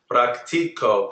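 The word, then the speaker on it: práctico: for practice practice show praco good that that c is a heart it sounds like a k good Andy oh is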